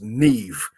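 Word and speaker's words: Niamh: um celtic names because you get n-i-a-m-h and it's pronounced neve so uh that's that's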